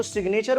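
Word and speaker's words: signature: लेकिन जब मैं इसी साइन को सिग्नेचर बोलता हूं तो यहां पे मैं जी का यूज करता हूं। जैसे सिग्नेचर। अब दूसरा वर्ड देखो रिजाइन।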